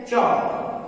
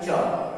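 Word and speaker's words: chalk: जैसे EG में है, जैसे चौक, तो CHAL के पहले यहाँ L है तो यहाँ L साइलेंट हो गया, यह हो गया चौक।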